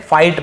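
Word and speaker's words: fight: फाइट, फाइट यानी लड़ना, यहाँ पर भी जी साइलेंट है, फाइट बस पढ़ेंगे, ठीक है, फाइट यानी लड़ना।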